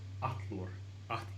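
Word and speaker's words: allur: Double L is pronounced like a TL, so Atlor. This means all or every.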